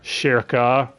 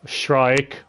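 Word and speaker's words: Schierke: So, Shirka, Shrike. Why does this bitch have her name pronounced so many different ways by you people online? I like Shrike. I kind of do too. Like a bird.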